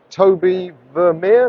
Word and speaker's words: Tobie Vermeire: I am here with cruiserweight Tobie Vermeire. Did I That's it.